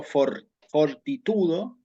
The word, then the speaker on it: fortitudo: pronuncia, digamos, como fuerte, como cuando yo digo, por ejemplo, fortitudo, fortaleza, allí la T no sufre ningún cambio, es decir, se pronuncia de modo fuerte.